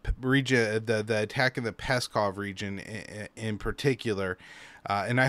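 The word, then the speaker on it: Pskov: seem that this region, the attack in the Peskov region in particular, and I hope I'm pronouncing that, it is spelled P-S-K-O-V.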